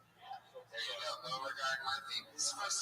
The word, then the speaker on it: Beauregard: Is that how you say your name, Beauregard? Yeah, thanks for the pronunciation.